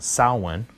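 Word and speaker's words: Samhain: Danzig and then I remember hearing about his second band called Sal one which I believe is the proper way to pronounce it I think it's it's proper Gaelic pronunciation and it spelled sa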